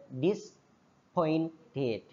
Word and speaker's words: disappointed: dua kecewa disppointed Iya tulisannya disappointed memang tapi dibacanya a enggak dibaca sehingga disppinted sopan polite miskin miskin